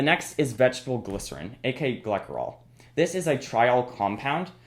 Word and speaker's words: glycerol: It's pronounced glycerol, not glycerol.